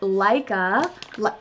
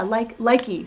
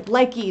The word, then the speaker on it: Likey: So a brand that is coming out with a new vegan offering is Leica. I think it's how you pronounce it. Yeah, Likey. Sorry, Likey, not Leica like the magazine.